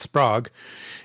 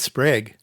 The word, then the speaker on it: Sprague: So it's not Sprague. It is Sprague.